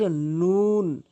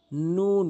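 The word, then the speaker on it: نون: এরপর আস নুন ন জিহ্বার আঘাটি উপরের তাল সঙ্গে লাগাবেন। নুন মুখটি গোলাকার করে নুন এভাবে উচ্চারণ করবেন।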